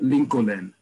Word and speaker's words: Lincoln: in Israel is Rehov Lincoln, right? Lincoln Street is Lincoln Street because they're pronouncing every single letter in the word in the name Lincoln.